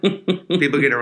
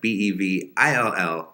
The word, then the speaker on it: Bevill: Bevel, incorrect. Bevil, incorrect. Bevill, correct.